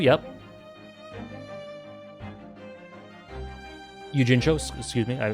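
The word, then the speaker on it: Natsume Yuujinchou: Natsume from Natsume Yujinju, yep. Yujincho, excuse me, I mispronounced it.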